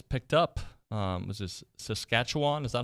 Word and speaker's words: Saskatchewan: Leon O'Neill who's picked up um was this Saskatchewan is that how you say it this is that what I said yes Saskatchewan I guess are they still called the Rough